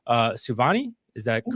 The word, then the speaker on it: Souvanny: I think that it's pronounced Souvanny. Is that Yes, correct? yes, Okay. Kayde Souvanny.